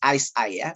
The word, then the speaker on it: ICEYE: but more on what ice i that's how it's pronounced uh i was trying to google this company and uh it is that how it's uh pronounced ice aya so the eyes the eye is on the eyes something like that anyway we are delighted